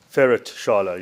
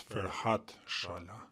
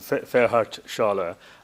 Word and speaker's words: Ferhat Shala: The interpreter is not pronouncing the name correctly. It's Ferhat Shala. Once again, that might have been my pronunciation problem. Ferhat Shala.